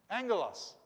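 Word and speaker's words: ἄγγελος: you pronounce this word remember those two g's go together to make an m sound and g together ang ang el loss yeah a and then these go together make it ng angolos angelos angelos can you see how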